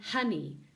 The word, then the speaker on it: honey: honey a sound and even though this is spelt with an O it's not on e even though they say that up north it's bunny and honey and that sound is the up sound as well bunny oh honey oh